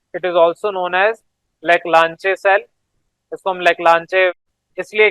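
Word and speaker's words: Leclanché: इसको हम लेक्लांचे सेल कहते हैं, लेकिन जो CHE है इसको शे पढ़ा जाता है। तो लेक लांशे बोले या ल्यूक लैंशे बोले, एक्चुअल गूगल पे जाके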